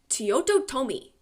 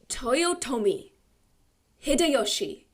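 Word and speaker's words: Toyotomi Hideyoshi: The story is in 1587, the Shogun Teoto Tomi. Wait, I pronounced that wrong. The Shogun. Let me try again. The Shogun Toyotoi Hideoshi hosted a grand tea ceremony in Uji, cementing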